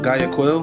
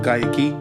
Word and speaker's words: Guayaquil: in GAA key some people might think it's pronounced Gaya Quil but they uh pronounced it Gaya Kei that's what they told me when I was